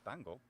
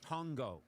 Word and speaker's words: tango: Well in Spanish it's it's tango but so that's a short a sound and a short ah can go either towards a I know it could be tango but it's not you saying tongo the way Tarzan would Tarzan would name a fellow ape.